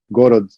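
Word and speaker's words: город: They were using the sound, I guess in a Ukrainian accent, it's my understanding that you might sometimes hear the word city, Gorod, pronounced with the H, and it sounded like they were pronouncing it with a Russian accent.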